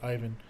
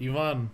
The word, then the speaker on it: Yvonne: like if like yeah you guys would probably pronounce it ivan but yvonne was going to be my name and then